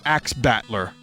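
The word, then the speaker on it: Ax Battler: that's why I will move on now to axe battler legend of Golden Axe battler that's how you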